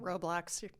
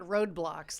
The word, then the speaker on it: Roblox: Roblox. Am I getting it wrong? It's not roadblocks, like there's a roadblock in your way on the way to the store.